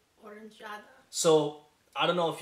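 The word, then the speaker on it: oranżada: So it's pronounced Oranjada. Oranjada.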